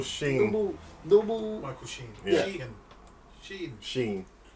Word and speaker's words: Sheen: Sheen. As in Charlie.